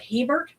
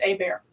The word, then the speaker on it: Hebert: And uh uh you'll also you might meet Cajun folks that their name it looks like Hebert, but it's actually pronounced A Bear.